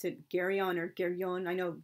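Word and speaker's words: Geryon: of this um monster jerion but since it's like originally a greek name i pronounce it gary on or gary on i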